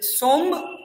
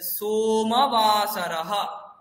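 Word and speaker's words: सोमवासरः: তো ম, এখানে দেখুন ময়ের নিচে তো কোথাও দাগ নেই, তাহলে সোম বলবো না, সো ম, মকার পুরো ম, ময়ের পরে অ আছে, তাহলে সোমবাসরः।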